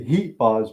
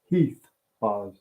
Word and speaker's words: Heath: of the heath bars I always say heat Buzz because that's how they say it in Fall River Massachusetts but it's Heath laws yeah watch your teeth